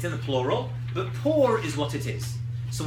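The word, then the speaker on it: פור: How do you say a lottery in Hebrew? Poor. A poor. Pei, vav, resh.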